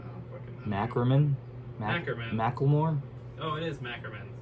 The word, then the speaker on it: Ackerman: Is it Ackerman or Ackerman?